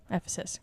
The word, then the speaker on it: Ephesus: Diana of Ephesus. Ephesus? Ephesus.